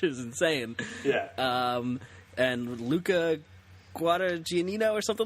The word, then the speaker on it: Guadagnino: And Luca Guadagnino or something like that. I can't remember. Close. Guadagnino. Guadagnino. Oh, man, there's a lot of syllables in those Italian names.